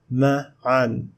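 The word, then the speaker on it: مَعًا: Ma'an, ma'an. In most cases, tanween fath is followed by alif, which is not pronounced.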